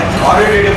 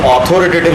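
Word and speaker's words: authoritative: अथॉरिटेटिव, इसको ऑथोरिटेटिव जिसमें भी कहा ना उसको बोतल मारना।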